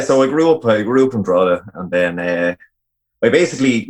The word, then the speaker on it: Drogheda: That's how you pronounce Drogheda by ignoring most of the letters in it. So it's Drogheda. Drogheda.